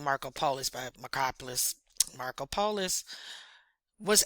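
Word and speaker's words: Markopolos: Marco Pol, well they say his name Marco Polus by Macopoulos.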